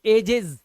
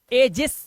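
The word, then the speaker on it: ages: नुक्ता तो यह नायक हीरोज ऐसे ही देखो एजेज एजेस नहीं पढ़ते सा नहीं आता है एजेस एजेस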